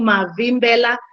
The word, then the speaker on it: Mavimbela: I hope you are able to pronounce that. My name is Mavimbela.